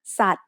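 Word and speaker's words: สัตว์: We write Garan above a consonant to indicate that it is a silent letter. For example, here's the word ส ั ต ว ์ which means animal.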